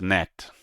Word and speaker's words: gnat: So it's a net net net. The G is silent.